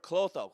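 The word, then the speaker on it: Klotho: If you take anything out of this meeting today, type in that word, clotho. Some people pronounce it clotho, K-L-O-T-H-O. It's one of the big 5 proteins for anti-aging.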